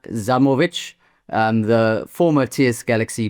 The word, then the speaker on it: Zajmovic: A lot of people say Zajovich, but it's Zamovich, right?